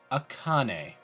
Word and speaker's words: Akane: Pronunciation of Names? Akane? Akane.